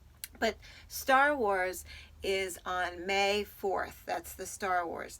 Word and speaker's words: Mae: the first day of May, but they're spelled differently. May, our friend, spells her name M-A-E, and the month May is spelled M-A-Y, but they sound the same.